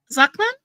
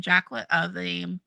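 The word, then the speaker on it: Jaklin: Zaklan? That sounds familiar. Oh, Jacqueline with a J, not a Z. Jacqueline. Okay, yeah. Okay, no, it's okay. It's ZH, so it's pronounced like a J.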